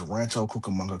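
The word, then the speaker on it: Rancho Cucamonga: Yeah, most people can't ever say it. So it Yeah, it took me a few times to say it correctly. It took me a few time to say it correctly, but now I've known now I've learned this. Rancho Cukamonga, California.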